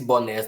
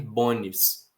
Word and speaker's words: bonés: Se Bonés não tivesse acento, a gente tenderia a ler Bones.